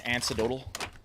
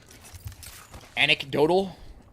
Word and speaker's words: anecdotal: Someone teach Viss how to pronounce antidotal. Is that med kit? Is that not how you pronounce it? Antidotal. We are blessed. Marking our surroundings. Anecdotal? Anecdotal, huh? Alright, well, I appreciate it, chat. You taught me something new today. Is it really anecdotal?